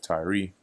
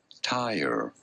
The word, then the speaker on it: Tyre: Tyre. Tyre. In a American English and British English, it is said as Tyre.